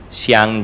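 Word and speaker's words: Zhiang: Miss familiar Kayo k Mr sang G PCI it's spelled as z h i a n g space j e sang J right thanks oh your name hello uh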